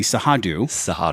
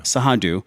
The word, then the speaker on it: Cerrado: This area, how do you pronounce this? The Sahadu. Sahadu.